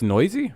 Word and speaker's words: Noyes: order sheldon noisy okay that's how you say it's noisy really see what i mean i can't say last names that doesn't look like noisy how would you get that if you'd ever heard it for the first time